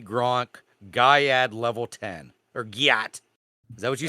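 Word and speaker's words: gyatt: Join the hilarious adventures of Riz, Baby Gronk, and Guyat as they reach level 10 of Ohio Skibbity Toilet. It's pronounced Gyat, Oh, okay.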